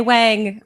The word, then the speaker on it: Wong: is uh Wong I pronounce it Wong and it is spelled w NG but if you say Wang I'll be okay um and what was